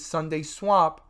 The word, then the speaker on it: SundaeSwap: Even though it's not spelled like today's a Sunday, it's spelled with the E, not the Y, and this is SundaeSwap.